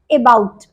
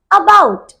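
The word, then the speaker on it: about: बहुत सारे बच्चे इसे प्रोनाउंस करते हैं अबाउट, that is totally wrong. The correct pronunciation is अबाउट। अबाउट, आ को जल्दी से बोलना है, अबाउट।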